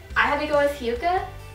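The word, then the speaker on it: Hyouka: But I had to go with Hyuka. I'm pretty sure that's how you pronounce that. Hyouke or Ka. It's Hyuka.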